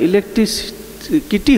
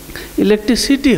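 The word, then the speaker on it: electricity: তো বলছে যে না রে, ওটা ইলেকট্রিকিটি হবে না, ইলেকট্রিসিটি হবে।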